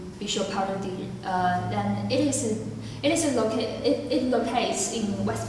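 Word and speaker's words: বিশ্বভারতী: So, educationist, he founded his university named Bishopharati. In Bengali, it means doesn't make any sense. People usually translate it into International University of India, but I prefer to pronounce it in Bengali, Bishopharati.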